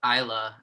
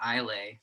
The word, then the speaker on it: Islay: And really, as long as you just call it Isla and not Islay, It's like, yeah, you're in the clear.